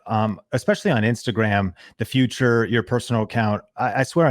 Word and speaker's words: Futur: i run is called the future and the future is spelled without an e it's f-u-t-u-r so if